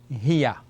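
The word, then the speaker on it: هي: So Ha is the letter with the kasra sound, gives me the sound of He. And Ya with a fatha gives me the sound of Ya. So we have Hiya.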